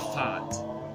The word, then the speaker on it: fart: sure speed uh yeah so speed in Danish is pronounced fart fart fart fart okay